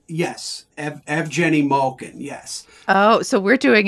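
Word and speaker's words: Evgeni Malkin: gets it twice because in Russia he is F Jenny Malkin that's how you pronounce it in his native tongue yes EV Jenny Malkin yes oh so we're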